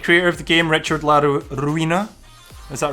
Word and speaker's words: La Ruina: The creator of the game, Richard La Ruina. Is that right, Sam? Did I pronounce it correctly?